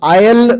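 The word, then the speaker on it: aisle: नावाचा जस असतो माहिती याच्यामध्ये सुद्धा हे सायलेंट आहे आयल म्हणतात याला ठीक आयल ओके असे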